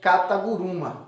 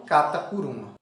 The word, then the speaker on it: kata guruma: a palavra catarro bru ela se pronuncia kata guruma e não cata por um outros exemplos koch que